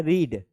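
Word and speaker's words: read: तीनों फॉर्म क्या होते हैं रीड के? सेम होते हैं। रीड, इसका प्रोनाउंसिएशन सेकंड में क्या हो जाएगा? Very good, रेड। लिखा रीड ही जाएगा, लेकिन सेकंड फॉर्म में पढ़ा क्या जाएगा? रेड।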